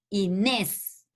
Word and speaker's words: Inés: Y vocal, entonces hay una sílaba, nes, la segunda sílaba, y pronunciamos Inés, la tilde en la E, o sea, el acento ortográfico es en la segunda sílaba, pero se llama última sílaba, que es nes.